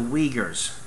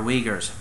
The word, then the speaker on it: Uyghur: Now the Urumqi people, they're known as the Uyghurs. It's difficult to pronounce. It's like, it's difficult to spell. It's like U-Y-G-H-E-R. It's not spelled the way it sounds.